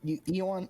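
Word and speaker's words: ioun: Eon. I-O-U-N. I-U-N, I think Gracie was right, is how you say it. I've just said Yuan for years.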